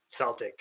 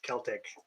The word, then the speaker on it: Celtic: i even know that it's not pronounced uh celtic it's celtic and i still did